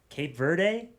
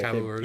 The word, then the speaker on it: Cabo Verde: But another thing to mention is, I think the MVPs of the tournament, how do you say, Cape Verde? Oh, what are they? Yeah, Cabo Verde.